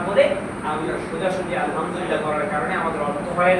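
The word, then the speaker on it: الحمد لله: আমাদের শুরুতে সূরাতুল ফাতিহার মধ্যে বলতে হবে আলহামদুলিল্লাহ, শোষ আওয়াজ করে বলতে হবে, অর্থ হবে সমস্ত প্রশংসা আল্লাহর জন্য। কিন্তু এখানে আলহামদুলিল্লাহ জায়গায় আমরা সোজা করে বলি কিরকম আলহামদুলিল্লাহ, লম্বা হাত জায়গায় আমরা গোধা উচ্চারণ করি, শোষ আওয়াজ করি না।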